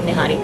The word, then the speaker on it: Nihari: Okay, try saying Nihari. Nihari. There you go. That's it, Nihari, yes.